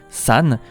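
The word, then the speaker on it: 山: se prononcera en onyomi, san, du fait qu'en chinois pur, la montagne se prononce shan.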